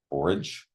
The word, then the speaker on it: borage: correspondences were anise um is that borage borage borage with the hard g yep uh it's a